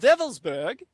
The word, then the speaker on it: Wewelsburg: This is why Colonel Michael Aquino, during the 1980s, traveled to the Schutzstaffel Castle of Wewelsburg, spelled with W's, it's pronounced as a V in the Germanic, W-E-L-S-B-E-R-G.